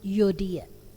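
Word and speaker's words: Euodia: yang pertama bicara tentang yodia dan sintike kalau pengucapan bahasa Yunani kita tidak menyebutnya tetapi langsung edan u menyebut yodia dan ini dua orang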